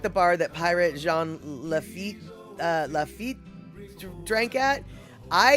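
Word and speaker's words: Lafitte: place the saloon is lafit I think is how you pronounce it L A fi tte lafit blacksmith shop um is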